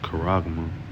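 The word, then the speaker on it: χάραγμα: Um this is the word for mark in the Greek it is pronounced kuragma right um it says in the strong definition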